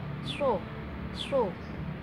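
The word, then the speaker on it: ص: Sin dengan shod itu beda. Kalau sa itu membacanya tadi saya katakan senyum, sa, si, su. Tapi ketika dia huruf shod maka membaca itu seperti siul kalau huruf shod. So. Kalau misalnya sin, sa, si, su. Tapi kalau shod, so, sri, su. Jadi dia monyong dulu bacanya ya.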